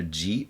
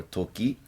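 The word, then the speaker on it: 時: day and temple and this can be pronounced either g or toki and it means time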